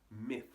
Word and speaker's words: myth: Now the pronunciation for myth can be a little tricky. The first part, meh, is easy enough, but you want to make sure you're not saying me or ma. You got to get that I sound. I. Not E, not ah, but I, right up in the front of your face. And it ends with f. You stick your tongue through your teeth and blow a little air, and that's it.